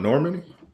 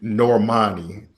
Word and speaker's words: Normani: Talking about Normandy? Yeah. Beautiful. young Excuse woman. me, Normani, which makes no sense. Which makes no sense. It's spelled Normandy, but it's like, no, it's Normani.